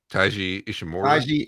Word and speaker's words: Taiji Ishimori: It was Taiji Ishii. Wait. No, I said his name wrong. Yeah, I was gonna say. There's Hiromu Takahashi who ended up winning. My boy, Time Bomb. Watu. It was Taiji Ishimori.